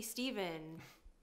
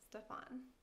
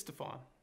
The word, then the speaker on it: Stephan: say it's actually pronounced stefan that happens all the time that's stupid your name is steven it's stefan come on you're messing with me the ph makes an f sound like in phone are you sure yes